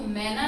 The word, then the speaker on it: मैना: हाँ, तो मैना, रैना, रैना माने रात, रैन, ठीक है। तो वैसे तो इस मात्रा का सही उच्चारण अगर हम करते हैं तो मैना नहीं बोलेंगे, हम इसे मैना बोलेंगे।